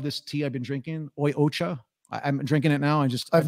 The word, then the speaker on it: Oi Ocha: How do you pronounce the name of the company? It's Oi Ocha. Oi Ocha.